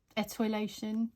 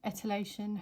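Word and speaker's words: etiolation: So The technical name for stretching is etoilation, or etylation, however you want to pronounce it.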